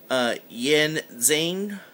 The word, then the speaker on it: Yin Xing: As for the name of the company, the best I can pronounce it is Yin Xing.